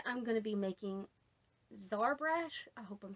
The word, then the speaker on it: Xarbrash: going to be making zarbrash i hope i'm saying that right x a r b r a s h i think is how it's spelled the x should make a z sound so sorry brush excuse